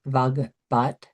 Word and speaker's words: Vagbhat: This may be the quickest, but you can also type in vogbot. Vogbot is spelled uh B A G B H A T.